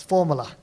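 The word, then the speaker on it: Fuvahmulah: So next what I'm about to show you is an example from it's called you know uh sounds like math formula formula but it's spelled fuva mula but it's formula and it's a bit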